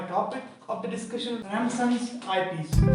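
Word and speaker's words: Ramsden's: So my topic of the discussion is Ramson's eyepiece. So to keep silent, we pronounce it Ramson's.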